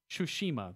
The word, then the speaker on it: Tsushima: Tsushima, there we go. Is there really a first H in there? Yes. Okay. Tsushima.